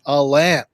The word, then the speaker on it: Alain: Lots of good, encouraging words from our friend Alain. Sorry, I almost said Alan. I almost did it. I almost didn't. It's Alain.